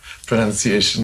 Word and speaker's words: pronunciation: of saying this word pronunciation is correct and not pronounceable not pronunciation yeah pronunciation um and it's actually linked to enunciation right which is to speak clearly and um it's not linked to pronoun which is where the confusion comes from yes and what about